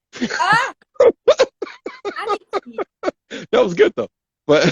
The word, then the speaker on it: Annikki: Ah, Annikki. That was good though. But so how do you say your first name? Your name. Annikki.